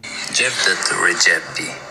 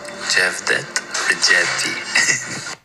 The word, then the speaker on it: Xhevdet Rexhepi: Xhevdet Rexhepi. Xhevdet Rexhepi. Can you hear it? Xhevdet Rexhepi.